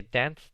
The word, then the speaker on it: dance: Le pongo la ed, pero noten que dance termina en una e que no se pronuncia.